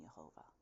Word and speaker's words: Jehovah: I need to hear people that believe in Jehovah, okay, that's how you say it, the Israelites, that's how they said it.